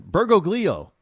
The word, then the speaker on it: Bergoglio: Why can I pronounce his last name? Bergoglio. Bergoglio.